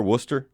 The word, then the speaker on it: Worcester: Now, first of all, is that how they pronounce it over there, Worcester?